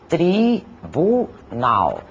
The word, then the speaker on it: tribunal: Assim, por exemplo, na palavra tribunal, composta por 3 sílabas, tribunal. As 2 primeiras são átonas e a última é tônica, aquela que falamos com maior intensidade.